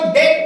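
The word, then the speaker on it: debt: है ना ऐसे ही डी बीटी इसको डेट पढ़ जाएगा क्या पढ जाएगा ये नहीं है ट है इसमें बी जो हैय क्या होता है साइलेंट होता है और डेट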